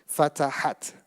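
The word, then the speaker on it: فتحت: Fatahat. You add the ta sound at the end.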